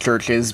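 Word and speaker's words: CHVRCHES: I know it's pronounced Churches, but that is a V right there. Get it right, people.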